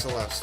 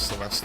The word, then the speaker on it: Celeste: It really is pronounced Celeste in this. I must have misheard Celeste saying her name as Celeste at some point, and it just stuck.